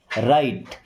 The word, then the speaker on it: write: राइट, इस राइट word में W silent है। राइट का मतलब होता है लिखना।